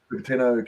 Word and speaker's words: Cupertino: Yeah, Cupertino, yeah. Cupertino campus following potential hazmat situation.